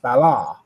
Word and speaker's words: Baal: English we call them Bal but if you look up the original pronunciation it's pronounced ballar which sounds a lot like Allah so again interesting connections